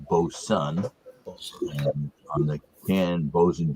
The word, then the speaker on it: Boatswain: and the what's that what looks literally is boatswain is actually pronounced bo sun on the can bows